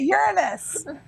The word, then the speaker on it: Uranus: Yes, he taught us how to pronounce it. Uranus.